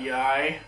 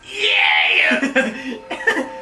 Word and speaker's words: Yi: on a cell phone that's not Yi that's actually pronounced yeah apparently my name is yay oh